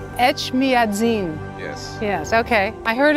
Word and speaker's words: Echmiadzin: Echmiadzin. Echmiadzin.